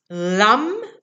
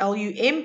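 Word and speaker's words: lam: your seed sound with this and again it's lum okay like l um but obviously it's pronounced it's spelled l-a-m okay so lum if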